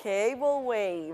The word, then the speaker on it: cableway: Cableway, muy bien. Way. Recuerda que la A se dice E.